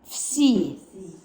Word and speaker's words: всі: It's like V and an S, you say it in one motion and then attach the I to it. So it's всі. C. Всі. C. It's not a Z, it's an S sound.